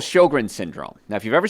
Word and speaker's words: Sjogren: sign of immune system problems there's something called sjogren's syndrome now if you've ever seen it spelled it's s-j-o-g-r-e-n it's pronounced sjogren and your immune system dries up